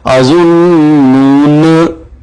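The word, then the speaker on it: الظنونا: اسی طرح سورہ احزاب میں جو ہے اس کو اظنون اس کو تلفظ کیا جائے گا اظنون، نہ پڑھا جائے گا، یعنی اس کے بھی ساتھ والا الف نہیں پڑھا جائے گا.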